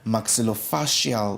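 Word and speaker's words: maxillofacial: Now Paulini here is a you are a qualified uh electrical engineer and currently pursuing your second degree to become a maxillofasial surgeon. Did I pronounce that right?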